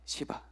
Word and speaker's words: 시바: 시바. 이 발음을 잘못하면 큰일 나는 이름입니다, 여러분.